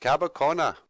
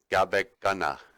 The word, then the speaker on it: Gabekana: But Cabacona is actually just sort of a mispronunciation of Gabekana, and it means the end of the road.